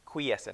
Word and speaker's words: quiescent: I think I said, did I say quiescent, or I forgot how I pronounced it last time. But it's quiescent.